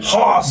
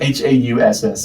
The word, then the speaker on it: Haas: Haas is what you call him. Yeah, that's a great name. Hauss. Yeah, Haas. It's like German, but pronounced like big Southern boy.